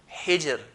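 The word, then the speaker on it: حجر: The situation number 3, if ra has a sukun, we look at the previous letter. If he has a sukun, we look at the letter before that. If he has a kasra, then we pronounce it in a light manner. Hijr, hijr, not hijr, but hijr, hijr.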